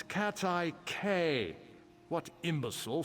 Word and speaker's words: Quay: It's Cat's Eye K. What imbecile says quay? My mother, the Arbor Master. Bumpkin. It is K, by the way. It's literally how it is pronounced. It is not key.